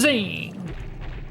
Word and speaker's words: Zane: His name, because the name is Zane. It rhymes with pain, and he's gonna drive you all insane.